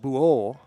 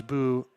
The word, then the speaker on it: Buu: Buu, which uh is pronounced Buo, Filipino name, but says he likes Buu nonetheless.